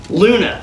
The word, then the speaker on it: Loona: subject of today's video Luna now Luna is spelled l-o-o-n-a but it's actually a